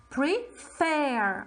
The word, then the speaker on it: prefer: has consonant vowel consonant however the second syllable is stressed the last syllable is stressed okay pre-fair i'm stressing it so i should double